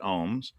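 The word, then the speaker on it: OAMS: They pronounce it ohms.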